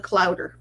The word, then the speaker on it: clowder: Rhymes with chowder. It's called a clowder of cats.